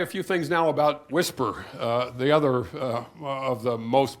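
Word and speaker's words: WSPR: Anyway, so the weak signal propagation reporter mode, pronounced Whisper.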